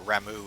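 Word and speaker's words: Ramuh: a primal kind of like rama or rammu if you want to say his name correctly which i don't uh-oh who's getting rocked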